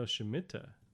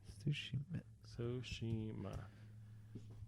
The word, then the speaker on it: Tsushima: No, Shimita. Okay. Tsushima.